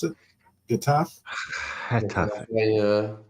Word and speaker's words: Getafe: Is that how you pronounce it? Getafe? Getafe. Yeah. Hataf?